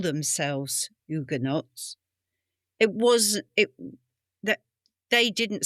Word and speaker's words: Huguenot: So, you wouldn't pronounce the H Huguenot.